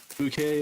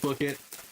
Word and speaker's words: bouquet: There's this uh there's this Dutch let's player that I occasionally like to watch and he encountered the word bouquet and just keeps on pronouncing it booket.